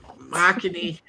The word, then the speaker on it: Machini: We were wrong the whole time. Machini. It's my last name pronounced in Japanese.